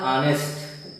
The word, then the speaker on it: honest: दूसरा वर्ड है HONEST, इसका उच्चारण होता है ऑनेस्ट और अर्थ होता है ईमानदार।